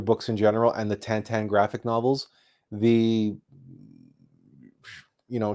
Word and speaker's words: Tintin: uh tantan graphic novels you might know him better as Tintin but it's supposedly it's properly pronounced tantan regardless those graphic novels